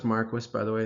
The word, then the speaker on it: Marquis: So Don Marquis, it is pronounced Marquis, by the way, it's kind of weird, claims that most abortions are permissible.